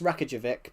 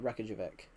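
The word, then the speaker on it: Reykjavík: I only know it's Reykjavik because Everton used to have a player, an Icelandic player, and that was how he pronounced it, Reykjavik, or Reykjavik.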